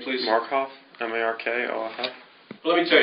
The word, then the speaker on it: Markoff: Would you pronounce and spell your last name, please? Markoff, M-A-R-K-O-F-F.